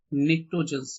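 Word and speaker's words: pnictogens: Okay, और इनको collectively क्या बोला जाता है, निक्टोजेंस बोला जाता है, कलेक्टिवली निक्टोजेंस, पी साइलेंट, ओके, निक्टोजेंस।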